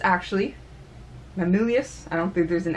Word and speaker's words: Mamilius: I'm gonna keep calling Maximilian because I'm gonna pronounce it that terribly wrong. Mamilius, actually. Mamilius, I don't think there's an X in there.